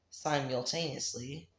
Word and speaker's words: simultaneously: You don't want to stress on the third syllable on the tail.